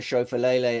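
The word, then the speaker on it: Schauffele: never got one wrong if anyone tells me that Xander Chau fele is not pronounced like that they're wrong um yeah we got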